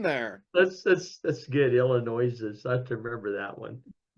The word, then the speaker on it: Illinois: The S is silent and don't put the thing on there. That's That's That's good. Illinois.